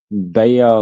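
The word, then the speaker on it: Bexar: that's probably an X, and you don't pronounce Bayer like that. You have to sorry, it's not Bear County, it's Bayer County. It's like, what do you mean it's Bayer County?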